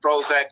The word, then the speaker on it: PROHOEZAK: It's spelled PROHOEZAK, but it's pronounced Prozac because the hoe is silent because the power's in the pimping.